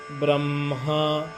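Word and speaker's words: ब्रह्म: Remember? M is first. Brahma, Gurur Brahma, Gurur Vishnu.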